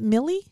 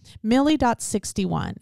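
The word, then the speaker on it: Mily: handle name on YouTube, it's M-I-L-Y, like Lily, but Millie? I would say Millie. M-I-L-Y? And Lily's L-I-L-Y. I would say Millie. Millie.61.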